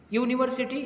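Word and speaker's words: university: यूनिवर्सिटी, यू पहला word हमारा क्या है, वॉवेल है, बट इसका प्रोनाउंसिएशन जो आता है वो या आता है, या हिंदी में या जब हम बात करते हैं तो यूनिवर्सिटी लिखा जाता है।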